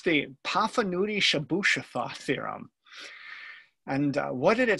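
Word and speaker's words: Chebyshev: and if you saw that how would you pronounce it that that's what i would say too it's actually the shabu-shafa theorem and if you think that was a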